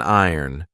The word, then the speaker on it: iron: we have an ironing board this is an iron be careful of the pronunciation I did an entire video on it